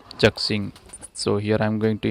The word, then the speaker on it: ZXing: by the Google, and I pronounce it as Z-xing.